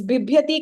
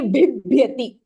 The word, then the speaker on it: bibhyati: And then this bibhyati can be tricky. So we tend to say bibhyati. The first ba is not Mahapranah. So bibhyati, take the Mahaprana pronunciation with the yakaraha.